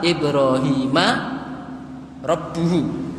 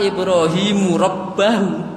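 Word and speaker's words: إِبْرَاهِيمَ رَبُّهُ: Perhatikan wa idh ibtala Ibrahima rabbuhu. Ibrahima rabbuhu. Ini kalau dibacanya keliru, wa idh ibtala Ibrahimu rabbahu. Perhatikan yang pertama tadi Ibrahima rabbuhu.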